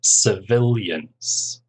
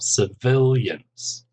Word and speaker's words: civilians: of the Armed Forces civilians three syllables stress on the second syllable civilians next one U.N peacekeeping